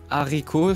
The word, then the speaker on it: haricot: Bean is haricot. Haricot? Yes. With an H at the beginning, but you don't pronounce it in French.